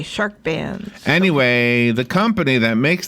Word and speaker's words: SHRKBANZ: Oh, Shark Bands. Yes. Not bands with a D. SHRKBANZ is how it's spelled. Okay, Shark Bands.